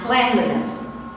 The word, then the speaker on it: cleanliness: Và các bạn lưu ý danh từ clean chúng ta đọc là cleanliness.